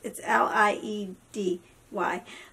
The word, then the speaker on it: Liedy: Excuse me, I said it wrong. It's L-I-E-D-Y. But it's said Liedy.